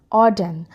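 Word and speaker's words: ordain: है ऑर्डन और डन ऑ डन ठीक है यहां पे ना ध्यान रखिएगा जब इसे प्रोनाउंस करें तो आर को थोड़ा सा साइलेंट रखिए इसको हम ऑडेन पढ़ेंगे ये भी एक वर्ब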